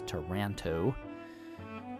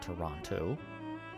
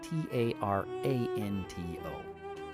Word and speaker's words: Taranto: That's Taranto, not Toronto, as in, anyway, Taranto.